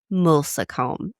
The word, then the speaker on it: Moulsecoomb: And I'm sorry if I'm It's Mulome. And I double checked how to pronounce it with chat cuz I was like, I hate this word. That's how we say it.